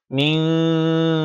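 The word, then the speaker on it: مِنْ: এরপর মিন শাররিল, মিন, নুন সাকিনের পর শিন আসছে, তাই এই নুনকে ইখফা করতে হবে।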